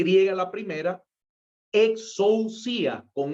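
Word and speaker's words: exousia: 27 esta palabra exorcía exorcía es e x o u s y a exorcía así como se pronuncia esta la encontramos entonces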